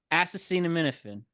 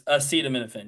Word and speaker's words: acetaminophen: Assassine and Minifin. It's acetaminophen, yep.